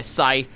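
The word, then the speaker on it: psi: or anywhere with my Sai ability my neural overload sighs a weird word because the P is silent so it's not sigh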